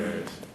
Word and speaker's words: Arias: Arias. Have you ever heard it pronounced any other way other than Arias?